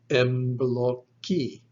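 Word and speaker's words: εμπλοκή: Then omicron is an O sound. Kappa sounds like K. And the last letter, E, is our phonetic I. It's the E sound. All put together, this word is pronounced embloki, embloki.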